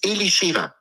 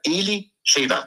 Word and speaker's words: Elisheva: Und hier ist die einzige, die Vorläuferin der sogenannten christlichen Neuen Testament, ist Elisheva. Die spricht sich ganz anders aus, wie schöner. Elisheva.